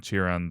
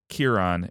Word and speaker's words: Chiron: to anyway so uh when I when I was saying uh cheron and cheron uh cheron the the fairy men and Chiron the uh Centaur that everyone loves it's uh Kiran and Karen and which also sort